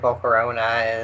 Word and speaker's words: Volcarona: yeah I've got like Volcarona is the correct way to say it but do you know